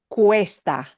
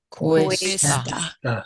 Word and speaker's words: Cuesta: Cuesta. Cuesta. And notice it's C-U-E, so the U-E runs together.